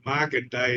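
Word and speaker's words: Markandeya: a real Hindu god it's Market day and it's spelled my name is Mark um m a r k a n d e y a and really sounds like EO like the old song Right EI EO he's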